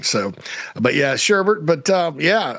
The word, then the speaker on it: Shurburtt: I should say, not Shurburtt. JC, how you doing, buddy? It's actually Shurburtt. It's just it's the German spelling.